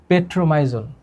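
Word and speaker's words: Petromyzon: আচ্ছা, এরা ফুলকা ছিদ্রের মাধ্যমে শ্বাস নেয়, এটাও তোমার মনে রাখতে হবে না, তুমি খালি এইটা মনে রাখো, পেট্রোমাইজন। উচ্চারণটা মনে রাখবা।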